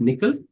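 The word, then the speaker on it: NCCL: is what is called the nvidia's collective communication Library pronounced as nickel uh it gives you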